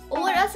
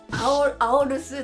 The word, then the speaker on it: AORUS: れども、私最初このオーラスって読むんじゃなくてアオルスとかなんか別な読み方をしてたんですけど、オーラスっていうのを初めて知りました。